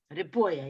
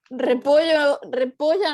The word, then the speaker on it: repollo: Don't put the A at the end of repollo. Just repollo, no repollo.